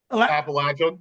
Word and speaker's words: Appalachian: I appreciate you pronouncing the word correctly. Oh, did I get what was that? Appalachian.